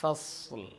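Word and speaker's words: فصل: ഇന്നഹു ലഖൗലുൻ ഫസ്ൽ. അവിടെ മുഴക്കാൻ പാടില്ല, ഫസ് എന്ന് പറയാൻ പാടില്ല. പക്ഷേ അടുത്ത അക്ഷരമായിട്ടുള്ള ലാം കേൾക്കുകയും വേണം.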